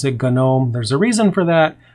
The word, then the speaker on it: GNOME: it's a long story just like gnome we pronounce it gnome there's a reason for that not going to